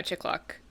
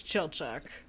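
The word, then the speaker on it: Chilchuck: of hobbit exist yeah also is that how you're supposed to say his name uh no no okay i think it's it's it's chill chuck i mean i could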